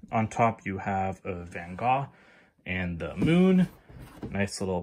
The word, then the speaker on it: Van Gogh: There's some history of Van Gogh in here. Or Van Gogh, sorry. Sometimes I say it wrong.